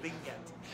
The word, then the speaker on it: Tlingit: It's called a bilateral lisp. Tlingit. So I'll teach you how to do it. I'm really good at this. Okay. You stick your tongue on the roof of your mouth, and you blow. That's the sound.